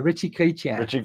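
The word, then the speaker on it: Ritchey-Chrétien: A Ritchie Chrétien, for instance. Yeah, the RCs. But how do you pronounce it actually?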